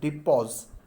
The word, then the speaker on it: depot: कर रही हैं एज डिपोज, DEPOT, T silent होता है, जो डिपो के रूप में काम कर रही हैं।